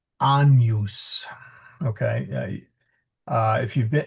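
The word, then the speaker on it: Agnus: then there of course is the singing of the anus dei. It's not Agnes although the um the name Agnes uh is uh comes from the Latin Agnes but we pronounce it anus.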